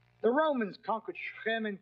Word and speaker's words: Shechem: The Romans conquered Shechem and called it Napulus, Naples. The Arabs have difficulty pronouncing a P, so Napulus became Nablus.